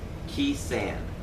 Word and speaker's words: Khe Sanh: Another turning point was Khe Sanh. That's how you pronounce it.